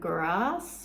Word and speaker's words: Grasse: is the area around Grasse or Gras. We don't really pronounce the S.